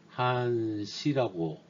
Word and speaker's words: 한시: 요거를 한시라고 읽으시면 될 것 같습니다. 한동안 시간을 줬다. 한시 한시 동작 B 접점이 지금 그림처럼 보이는 접점이 되겠습니다.